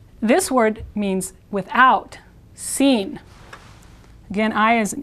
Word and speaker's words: sin: this word means without sin again i is e sound so it's sort of like the english word scene with con and seen